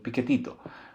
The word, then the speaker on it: piquetito: Like te vas a sentir un piquetito.